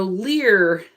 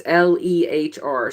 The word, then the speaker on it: LEHR: reading so with the so lear and how did we probably get to pronounce differently it's lehr so that's linking ecosystems